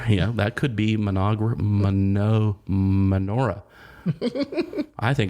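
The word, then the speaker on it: Mynoghra: forest that has been called menorah menorah yeah it's spelled m-y-n-o-g-h-r-a and she is a.k.a inaugura menagra yeah that could be manager menorah i think it's menorah okay and uh it's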